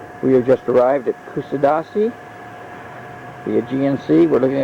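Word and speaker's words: Kuşadası: This is from the balcony of the hotel in Casada. I didn't say that right. I'll pronounce it better later.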